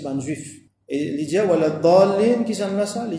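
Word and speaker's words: الضالين: Wala dallin, et le dallin, et na une longue mad lazim qui nous lie 6 harakat, 6 longueurs. Il faut pas nous prononcer comme beaucoup prononcé. Nous fait si pas wala zallin ou soit wala zalin, tout ça là, non, nous besoin prononcer bien wala dallin.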